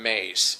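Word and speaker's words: Myss: And there's a spiritual teacher named Carolyn Mace, and her last name is spelled M-Y-S-S.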